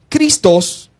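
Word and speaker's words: Χριστός: Christos, con tilde, acento en la O, igual Cristo, significa Mesías, el ungido.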